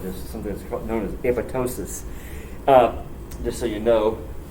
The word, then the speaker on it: apoptosis: something that's known as apoptosis uh just so you know the second p is silent if you say apoptosis you sound like a hit that's my feeling though apoptosis is a very specific